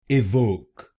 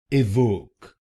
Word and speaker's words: Evoque: Its correct pronunciation is A Wok. A Wok. This word has two syllables. A Wok A Wok will become A Wok. A Wok and here you have to put stress on the second syllable.